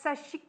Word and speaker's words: Sashiko: First attempt at Sashiko. Oh, Sashiko. It's no I in it. You don't pronounce the Sashiko.